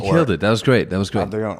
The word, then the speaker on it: Adrion: Adrion, or Adrian, as the dumb Americans say.